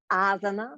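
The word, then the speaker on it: āsana: in yoga actually or in sanskrit actually it's asana because the first a has that line but that's super super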